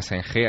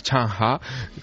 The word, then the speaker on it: Zheng He: Allí no se llama Zheng He, allí se llama Chang Ha, que es...